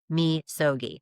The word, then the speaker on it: Misogi: I don't know if you've ever heard of this before, but it's called Misogi, and it's spelled M in Mary, I, S is in Sam, O G I, but it's pronounced Mogi.